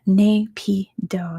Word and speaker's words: Naypyidaw: Yeah, Naypyidaw is how you pronounce it.